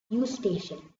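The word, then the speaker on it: Eustachian: to do with your u station and you pronounce it as u station U and station it is a tube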